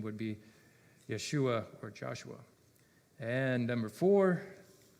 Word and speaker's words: Yeshua: yes correct Jesus um his better more correct pronunciation would be Yeshua or Joshua and number four how many times did Israelites Army march around Jericho and we got seven we got 13.